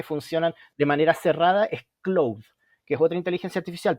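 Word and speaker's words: Claude: más privacidad se escribe No no es Cloud como de nub sino como Cloud como de Claudio en francés como Cloud ya Y esa es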